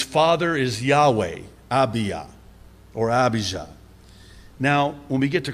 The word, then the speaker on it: Abijah: hebrew this the name abhija means yahweh is my father you don't pronounce the j in hebrew that's why jerusalem is